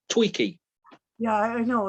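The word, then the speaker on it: Twiki: And I don't I don't ever say his name right. I always call him Twiggy. It is Tweaky.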